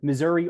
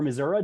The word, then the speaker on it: Missouri: for each state um missouri or missouri depending on how you say it um they did